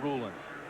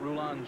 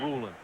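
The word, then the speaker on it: Rulon: applying the pressure and roland jones prefers his first name pronounced ruling sometimes you hear that roulon jones but he said it's ruling but i i i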